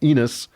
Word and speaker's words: Enos: Seth has a son called eNOS and Chapter four yeah that rhymes with penis chapter five gives us